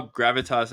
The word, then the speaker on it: Gravitas: I don't know how Gravitas actually.